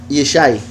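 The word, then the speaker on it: ישי: Entonces, Yeshimón, estas tres letras se pronuncian Yeshai.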